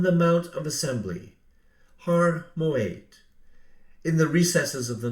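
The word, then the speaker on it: מועד: Historically, the Hebrew letter ayin in Moed carried a strong guttural GH sound, pronouncing it Moed. The core consonants are M, G, and D, which matches the Greek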